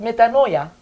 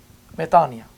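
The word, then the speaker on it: μετάνοια: Not metanoia, metania. And this is because it's Greek. This is how you pronounce it. And it has a double vowel rule for omicron and iota together, which made it an I instead of OY.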